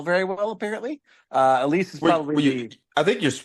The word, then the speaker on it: Alys: Apparently, Elise is probably I think you're pronouncing it right. It's actually spelled Alys. I think that's how they say it though in the film.